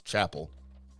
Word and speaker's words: Chappelle: Chappelle episode a Dave first of all I can't pronounce his last name it's Chapel it's Dave Chappelle and you